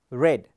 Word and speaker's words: read: then the verb read it's not read read books are read even if the spellings are same we pronounce it as red that is an exception in the english language books are read daily